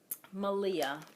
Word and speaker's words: Malia: And the next spinning, I was watching Malia, Rhymes with Maria, on her podcast.